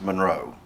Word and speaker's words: Monroe: Risa and I are from a town in Union County that's named after President James Monroe. But it's not, the town is pronounced Monroe.